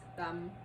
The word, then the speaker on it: Tam: It's pronounced Tam in Vietnamese, and my parents are